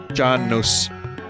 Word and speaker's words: Janus: Roman religion and myth Janus pronounced John knows is the god of